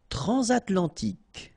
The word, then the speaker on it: transatlantique: Transatlantique. Okay, so at the end, tic. Remember, Q-U-E-K.